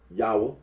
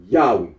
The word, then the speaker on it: Yahweh: Now, Yahweh. The scholarly considers that the original pronunciation of the tetragrammaton was Yahweh.